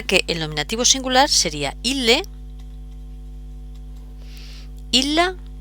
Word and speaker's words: ille: En latín esto se pronuncia la doble l eh como si fueran, voy a poner aquí un ejemplo, como si eh bisílaba, es decir, la primera sílaba sería il y la segunda le ille.